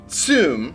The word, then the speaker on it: zum: It is spelled Z-U-M, but it's pronounced Zoom.